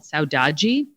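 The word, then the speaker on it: saudade: the most in brazil is this idea called saudaji it's spelled s-a-u-d-a-d-e and what saudaji is is it's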